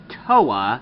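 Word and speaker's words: Towa: on next is Russo green whose name is TOA by the way it's spelled t o w a which on a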